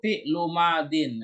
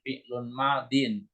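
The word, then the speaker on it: فعل ماض: Amilu fi'lu madin. Nah, perhatikan Bu Saibah cara bacanya fi'lu madin ya, bukan fi'lun madin.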